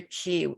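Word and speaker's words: 기: your she or your ki in korea we pronounce it ki how was your key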